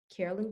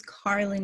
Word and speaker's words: Carlin: we want to know carolyn first how are you doing today i'm doing good and also my name's carlin my grandmother's carolyn but yes that's okay